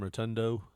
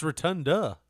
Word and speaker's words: Rotunda: Does it bother you when some people call him Rotundo? I mean, I understand it's Rotundo, but No, like, it's Rotunda. It's A at the end, not O.